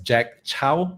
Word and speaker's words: Chow: For some of you who don't know me my name is pronounced as Jack Chow. Many of you call it as cow but it's the same surname as the general from the romance of the tree kingdom.